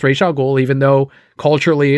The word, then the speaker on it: Ra's al Ghul: The creator said it's pronounced Ra's al Ghul, even though culturally it's Ra's al Ghul, but no one's making that movie.